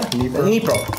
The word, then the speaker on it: Dnipro: Dnipro.